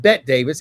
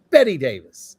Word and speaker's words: Bette Davis: they spelled it the same way but they pronounced it differently so uh I'm trying to understand why but it's not Bette Davis it's Betty Davis that's right better than life and uh and